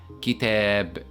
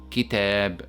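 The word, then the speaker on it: كتاب: That's why it is pronounced as Kitab, Kitab, with a stretched sound.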